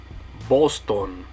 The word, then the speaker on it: Boston: In English, we would say Boston. In Spanish, you're going to say Boston. So in English, it's Boston. In Spanish, it's Boston.